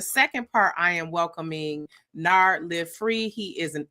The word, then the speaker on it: Nard: Am I pronouncing it right, Nard? Yeah, Nard.